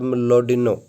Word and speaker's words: Mlodinow: Grand design D students, ये एक बड़ी बुक है written by Stephen Hawking and Leonard मलोडिनो, ऐसे इसकी प्रोनाउंसिएशन है।